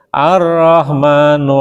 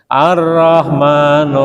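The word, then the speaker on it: الرحمن: tafsir illahirim Arrahman Monggo arahman itu ada tanda lam kecil lam wasal maka membacanya arrahmanu allamal Quran Mo arrahmanu allamal Quran gitu bacanya Nggih Arrahman MgO Arrahman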